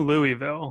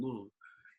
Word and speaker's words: Louisville: for us, people in Louisville. And everybody else say Louisville. They can't even say it right. So Louisville. We don't know what's going on in there. You know, it's called Louisville. But Louisville. it's definitely, like I said,